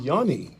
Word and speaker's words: Yuni: We've got DJ Yuni.